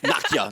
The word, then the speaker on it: Nakia: That's not how you pronounce my name. Nakia. No, it's Nakia tonight.